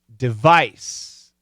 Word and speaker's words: device: z okay devise and device is a noun and that is an